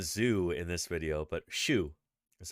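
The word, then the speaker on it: Xu: have been illegally exported it's true for 1999 Zoo noticed that the tale of argue this is again renowned paleontologist from China shushing they keep calling him a zoo in this video but shoo that's how you say it ex-u Shu shushing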